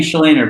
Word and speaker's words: Shleyner: Shleyner, but I don't think you can butcher anything with that intro, man.